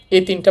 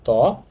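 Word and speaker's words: 땅: তো ইউং এর শেষ বর্ণ হচ্ছে অং।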